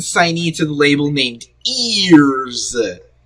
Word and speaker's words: Eearz: And a recent signee to the label named Eearz. It's spelled E-E-A-R-Z.